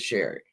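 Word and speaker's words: Cheri: It's spelt like cherry, but it is Sherry.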